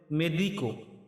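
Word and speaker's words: medico: সানো মানে সুস্থ এরপরে রয়েছে ডাক্তার ডাক্তারের ইতালিয়ান উচ্চারণ হবে মেদিকো মেদিকো মানে ডাক্তার ডাক্তার তারপরে রয়েছে রোগী রোগীর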